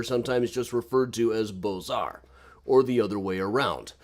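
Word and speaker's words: Beaux-Arts: modernism this is the bozar style of architecture i think i'm missing a button here okay bozar i always pronounce it with the highfalutin french pronunciation and i just realized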